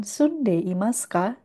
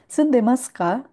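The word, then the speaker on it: 住んでいますか: sebetulnya artinya sama dengan Sunde Imaska. Tapi sunde maska ini versi yang dipendekkan. Kalau kita mengucapkan sundei maska dengan cara pelafalan yang cepat maka biasanya i-nya itu hilang. Sundaska seperti itu.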